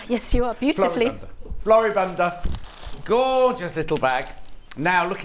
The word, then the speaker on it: Floribunda: Floribunda.